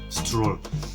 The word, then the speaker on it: stroll: that I already realized that stroke wasn't the right pronunciation that was rather stroll and I told my